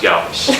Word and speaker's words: Galvis: He goes, "I want it to be pronounced Galvis." And I looked at him again.